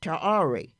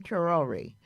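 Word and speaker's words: Traoré: Abraham Traore. My son out there in California, Walter, said, Mom, please say his name correctly. Also, I'm trying hard. Abraham Traore.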